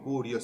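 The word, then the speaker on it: κύριος: Que Señor significa Kyrios o Kurios, mejor pronunciación griega, ¿no? Kurios sería probablemente lo más cercano al griego vernáculo del día de hoy.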